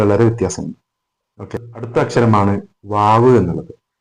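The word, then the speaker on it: واو: Okay, അടുത്ത അക്ഷരമാണ് വാവ് എന്നുള്ളത്. ഈ വാവ് പറയുമ്പോൾ വാവ് എപ്പോഴും ചുണ്ടിൽ നിന്ന് വരുന്ന അക്ഷരമാണ്. വാ ഊ വി എന്നുള്ളതാണ് മലയാളത്തിൽ നമ്മൾ അതിന്റെ ഉച്ചാരണം പറയുകയാണെങ്കിൽ. വാവ് നമ്മൾ അറബിയിൽ പറയുമ്പോൾ അതിന്റെ സ്ഥാനം 2 ചുണ്ടുകളാണ്.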